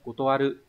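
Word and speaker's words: 断る: Nghe câu chuyện đó thì nghe nói anh chị Nakamura đã từ chối, vậy thì từ chối sẽ đọc là kotowatta, đúng không? Kotowaru.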